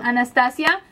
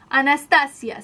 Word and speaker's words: Anastasia: renaissence anast anast from Anastasia Anastasia see because I am Latina pron that's the way you pronounce um I don't know if English you say Anastasia but I Say Anastasia but that's the colors